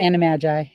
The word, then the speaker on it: Animagi: you we're having we're having what are the animises how do you say animagi yeah animagi created for ourselves or alternate